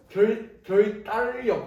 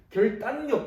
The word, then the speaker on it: 결단력: 세 글자짜리 한자어를 보면 얘가 발음이 결 일단 역 이렇게 나는 거죠 그러니까 우리가 미음과 리을이 만나면 일반적으로 유마가 일어나서 결 딸려 이런 식으로 날 것 같지만 우리가 실제로 발음이 별 딸력 이게 아니고 결단력 이렇게 발행하는 거죠 그냥 이런 거를 우리는